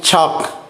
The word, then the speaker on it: chalk: through GH fifth one is chalk the silent letter is l next one night the